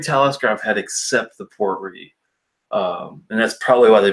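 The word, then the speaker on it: Port Ruighe: The only Talisker that really kind of threw me off was the Port Ree. It's spelled R-U-I-G-H-E.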